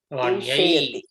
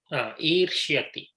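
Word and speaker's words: ईर्ष्यति: Gita, Vanye, Irshayati. Irshyati. Not Irshayati. Irshyati.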